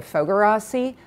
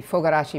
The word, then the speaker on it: Fogarasi: my name is foger Rossi although having said that you should know that in Hungary the last name always comes first and the pronunciation is different so I would be Fugazi if we were in